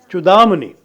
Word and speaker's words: Chudamani: He also authored one of you will have to correct my pronunciation, the Viveka Chudamani, is it? Chudamani.